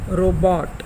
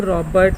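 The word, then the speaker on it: robot: गो की जैसे ही रो की साउंड आएगी और हॉट की तरह बॉट आएगा, रोबोट। रोबोट इज़ the real correct pronunciation of this word, not रॉबर्ट, नॉट रोबोट, कुछ नहीं।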